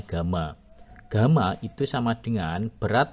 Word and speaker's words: gamma: Kemudian ukuran lainnya berat jenis atau spesific eh tulisannya hampir Y ya. Kita bacanya gamma.